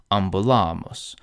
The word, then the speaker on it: ambulamus: But this accent is not permanent. So let's conjugate ambulo in the present tense. Ambulo, ambulas, ambulat. The accent falls on the first syllable. But when we go into the plural, the accent shifts. Ambulamus, ambulatis. Here the penult is long, the long A, so it's stressed.